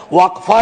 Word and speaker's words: Waqf: और अलग अलग लोग इसका प्रोनाउंसिएशन अलग करते हैं, कोई वक्फ बोलता है, कोई वकफ बोलता है।